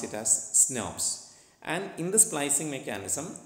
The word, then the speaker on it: snRNP: nuclear ribonucleoproteins or s enemies or we usually pronounce it as snobs and in the splicing mechanism there are different